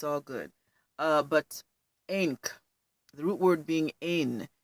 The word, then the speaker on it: ankh: root word for ink it should be pronounced Inc not ankh Inc I still fall